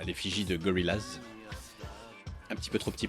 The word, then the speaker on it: Gorillaz: fan, que j'aimais bien Gorillaz en fait. Et c'est la prononciation française, Gorillaz, ça passait pas.